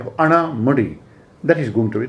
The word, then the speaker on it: Anamudi: highest peak being, as the Britishers called it, Annaimudi, and it is pronounced, it is also going to be called as Annaimudi, but in general it is going to be called by the name of Anamudi.